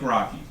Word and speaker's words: Rocchi: Rocchi? Good evening, and it's true, my name is Rocchi. It's spelled R-O-C-C-H-I, but it's pronounced like Rocky.